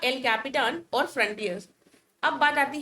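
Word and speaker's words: El Capitan: तो यूएस का जो सुपर कंप्यूटर है इसका नाम है एल कैपिटान। स्पेलिंग में कैप्टन नहीं है, एल कैपिटान कर है।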